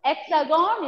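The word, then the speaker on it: Hexagone: i told about hexagons hexagon is the nickname of france nickname hexagon is the nickname of france h will be silent and that nickname france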